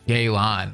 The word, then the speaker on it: Yelan: Yelan, that's how you say her name.